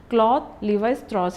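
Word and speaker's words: Claude Lévi-Strauss: has to this particular name has to be pronounced in this way only. Cloth Levis Tros he is a French anthropologist and he belongs to the structuralism school of thought.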